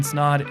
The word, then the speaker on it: Esdohr: rhymes with odd podcast my name is snod it rhymes with that and we'll see you